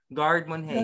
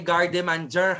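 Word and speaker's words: garde manger: Pronounce gardemon hey. Gardemon hey. Gardemon. Ayan. Hindi gardemanger, ha? Wala magpo-pronounce ng gardemanger. Pag kayo may nagpronounce ng gardemanger, hindi ko kayo estudyante, ha?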